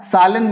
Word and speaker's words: Zahl: Now I am saying die Zahl. Zahl here means number. Zahlen means numbers. Here Zahl means number. Zahlen means numbers.